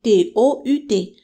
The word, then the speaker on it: tout: Donc ça s'écrit différemment mais se prononce de la même manière. Tout le temps et tous les jours.